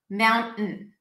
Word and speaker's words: mountain: So you basically say mound, you keep the tongue up, and then you just say mountain. Mountain. Mountain. So that sound is perceived as the T because that's how people pronounce it in American English.